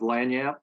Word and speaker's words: Langniappe: Ron Anderson with co-founder of Langniappe, and that's exactly how you pronounce the name of our company, Langniappe.